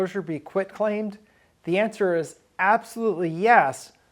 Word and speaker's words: quitclaim: oh I got a quick claim deed it's not quick it's quit Qi T quit claim deed so first of